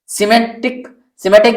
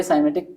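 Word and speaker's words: Symantec: सिमेटिक जो है, इसको भी साइमेटिक, जो भी जिस तरह से आप उच्चारण करने लगते हैं, दोनों तरह से साइमेटिक भी बोला जाता है और सिमेटिक भी बोला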